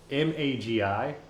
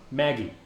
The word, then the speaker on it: Magi: See, MAGI, Magi. That's how I pronounce it as an adult. That seems legit. Yeah. Maggie. As a fucking kid.